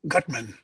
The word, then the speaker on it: Gutman: And Roy, is it Gutman or Gutman, if I'm pronouncing it properly? Gutman.